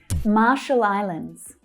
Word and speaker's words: Marshall Islands: Marshall Islands, Marshall Islands. So ma is the stressed syllable, ah, ma, and then you're adding the sh consonant sound.